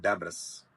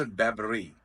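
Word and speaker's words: debris: we have another word D ई बी आर आई एस नट डबस इटस डबरी बबरी dairy मलबे को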